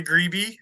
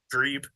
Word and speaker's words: Grebe: looking uh should we mention the uh grebe or the greeby or the yeah greep as you should be pronounced yeah uh is S35